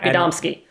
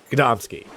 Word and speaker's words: Gadomski: It's going to be Gadomski. Gadomski. Gadomski.